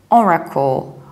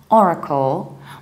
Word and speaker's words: Oracle: that Oracle but also you don't pronounce are like ah so you don't see all right but you see Ora Ora Oracle Oracle suits levels are reduced or a call and we pronounce are in both British and American accent Oracle Oracle and now